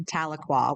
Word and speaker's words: Tahlequah: I remember the first time I ever went to Tahlequah, which is where I went to college.